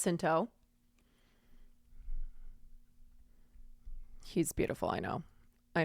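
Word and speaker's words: Jacinto: his last name just I think it's jento hard J yeah I know we all Swoon over him it's h okay HTO never mind I was wrong Manny hinto he's beautiful I know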